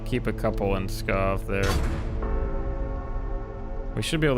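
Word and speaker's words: Pskov: I'm probably pronouncing that wrong, but I'm going to say Skov from now on because I think the P is silent.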